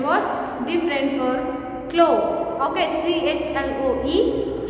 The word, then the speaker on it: Chloe: Okay, CHLOE, slow, but pronounce was KLOE, Chloe.